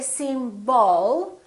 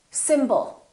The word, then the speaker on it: symbol: we have two syllables the first syllable is stressed and the second syllable is reduced when we have a reduced vowel we don't pronounce it fully we don't say sim ball we reduce it and we pronounce it as a symbol symbol so the o